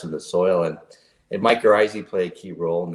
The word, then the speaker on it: mycorrhizae: health is important and for years i could not pronounce mycorrhizae because i didn't know how to say it so calling it mike oh ryza which um your thumbnail